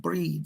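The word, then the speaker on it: Bríd: She gives the name of Breed, or Bridget, we might say, but she pronounces with the Irish accent, Breed.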